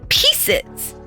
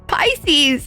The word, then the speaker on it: Pisces: it's pieces it's pieces she was adamant that it was pieces and we're like it's pisces it's pisces yeah that was that was